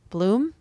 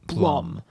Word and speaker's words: Blum: because it was actually it's actually pronounced Jason Blum so she was probably thrown